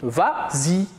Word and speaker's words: vas-y: Mais comme il est suivi d'un pronom, on ajoute le S pour faciliter la prononciation. Et on dit vas-y.